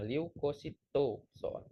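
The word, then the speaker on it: Leucocytozoon: Leukosit itu ya bacanya, leukocytozoon. Jadi leukocytozon ini merupakan parasit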